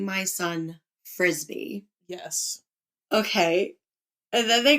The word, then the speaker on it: Frisby: to name my son Frisbee?" Yes. Okay. And then they go on to say, it's pronounced frisbee like the sport.